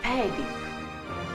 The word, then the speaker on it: fading: Espera, que lo pronuncio bien. ¡El Andy! Es el técnico de sonido. ¡Ponme la música! Fading.